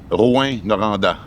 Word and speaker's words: Rouyn-Noranda: How is this city pronounced? Rouyn-Noranda. Rouyn-Noranda.